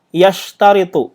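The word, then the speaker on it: يشترط: Bil af'alil lati yashtaritu. Nah, jadi ini dibacanya yashtaritu. Ya, yashtari itu yang mensyaratkan ya. Nah, mensyaratkan. Jadi dibacanya itu yashtaritu.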